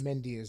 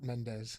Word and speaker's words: Mendeas: Mendeas, not Mendez. Mendeas. Not the Mendez brothers. Yes. Well, it's Mendeas.